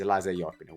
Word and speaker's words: Eliza Jäppinen: I know that this time is the right way to say it. In the past, I've been saying Eliza for whatever reason. I thought somehow I had to pronounce it the Italian way, but it's Eliza Jäppinen.